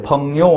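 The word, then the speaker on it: 朋友: 그 중국어에서는요, 친구를 펑유라고 합니다. 우리 그 한자 수고 중에 붕우유신이라고 하는데 이 붕우가 중국어 발음으로 펑요입니다. 펑요. 이 붕이란 붕우 할 때 펑요 할 때 이 붕이라는 것은 벗 붕자고요.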